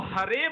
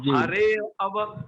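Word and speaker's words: हरेऽव: जैसे आपको बोलना है तो हरेब बोलना है इसको, ऐसा नहीं कि इसको आ जैसा उच्चारण करो आप बोलो हरे अब।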